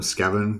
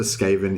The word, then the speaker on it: Skaven: friends just all call him scaven because i guess we learnt the name from like reading the books back in the 90s before there was youtube um and um and stuff um but yeah i'm pretty sure skaven is correct yeah thanks nicholas um